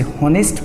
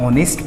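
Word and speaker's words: honest: जी हाँ बिल्कुल, कुछ लोग इसे हॉनेस्ट प्रोनाउंस करते हैं, उच्चारण करते हैं, जो गलत है। एच यहाँ पर साइलेंट है, जैसे नाइफ में KNIFE, नाइफ में K साइलेंट होता है, उसी तरह ऑनेस्ट में H साइलेंट होता है, तो इसे आप ऑनेस्ट प्रोनाउंस करते हैं।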